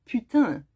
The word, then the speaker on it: Putin: You see, if Putin was pronounced in French, it would sound like putain, which means whore.